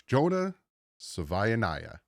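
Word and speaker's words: Jonah Savaiinaea: Just like Tuongoa, just like Noah, just like if Melanu, it's Jonah Savvya.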